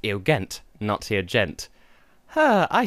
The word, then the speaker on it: Eugent: Nugent Bush pepper hello the test and editing here I've just found out that his name is actually pronounced ill ghent nazi a gent her I thought I knew